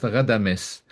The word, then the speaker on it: Ghadames: So it's Ghadames. This is how it probably should be pronounced, Ghadames.